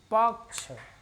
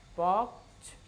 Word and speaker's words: पक्ष: तो इसको हम उच्चारित करेंगे पक्ष, पक्ष, पक्ष। प हम विशेष जोर देंगे यहाँ यह है इंद्र,